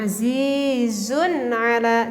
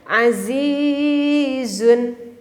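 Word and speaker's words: عزيز: tadi adalah nun sukun kalau kita berhenti di sini bacanya gimana coba yang bener azizun atau yang benar seperti ini Ayo coba jawab yang Betulnya yang mana yang azizun atau yang Aziz maka yang benar itu adalah berhenti gak boleh jadi azizun nggak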